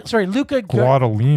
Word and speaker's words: Guadagnino: How do you pronounce his name? Giorgino? Gino? Isn't it? It's Luca Guadagnino. Guadagnino, yeah.